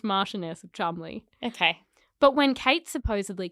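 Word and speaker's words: Cholmondeley: an affair with rose hanur the Martian of Chumley not the maress of chum just for clarity that is spell that sounds like her dog food brand oh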